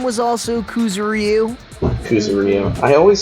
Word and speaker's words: Kuzuryu: Wasn't there another person whose last name was also Kuzuryu?